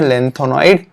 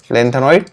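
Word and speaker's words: lanthanide: हो, उसे बोलते हैं लेंथेनॉइड contraction. लेंथेनॉइड contraction, spelling थोड़ा ऊपर नीचे हो सकता है, तो इसे बोलेंगे लेंथेनॉइड कॉन्ट्रैक्शन या लेंथेनाइड कॉन्ट्रैक्शन, राइट।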